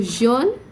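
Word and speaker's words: jeune: young john means yellow remember slight difference in the pronunciation will make a lot of difference and will change the meaning of the word so john is young jon is yellow rouge okay here i want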